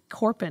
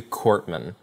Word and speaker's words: Korpman: say your last name it's cortman uh the way sometimes sometimes they'll say it's like the p's not pronounced but it's not silent so find the middle ground cortman cortman okay so